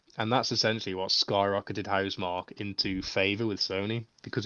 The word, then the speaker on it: Housemarque: It was made by, love was it Housemarque? Is that how you pronounce it? Yeah, Housemarque, yeah.